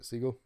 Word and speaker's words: Segel: caddy look so yo Jason Segel or Segal how do you say it Segal okay Sarah looked it